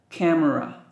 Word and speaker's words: camera: recorder robot necklace camera last letter A pronounced uh camera beads guitar rain doll's